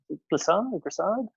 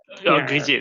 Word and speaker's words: Grisier: difference between Ravel and Grissard. Completely forgot how to pronounce the name. Sorry, Damien. Grisier, sorry, Grisier. Grisier.